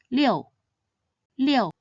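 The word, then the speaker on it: 六: It should be read in the 4th tone, liu, liu.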